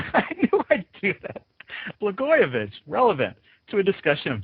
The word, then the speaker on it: Blagojevich: And we all had to learn to pronounce his name suddenly. Why is Governor Blagojevich, I knew I'd do that, Blagojevich relevant to a discussion of journalism topics?